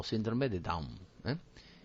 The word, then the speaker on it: Down: Entonces, aquí lo hemos intentado explicar, trisomía del par 21 o síndrome de Down, ¿eh? Fíjense que se escribe Down, aunque en inglés se pronuncia Down.